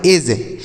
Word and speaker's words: edge: जैसे EDGE तो इसे एड्ज नहीं पढ़ेंगे, ऐसा नहीं पढ़ेंगे, यह गलत उच्चारण होगा। इसे क्या पढ़ेंगे? इसे हम पढ़ेंगे एज।